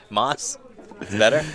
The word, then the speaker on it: Mas: i'm so sorry man it's m-a-s so i'm assuming moss yeah that's right he's a little close